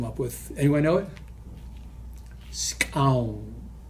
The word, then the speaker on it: skxawng: Scown. It's spelled SKXAWNG.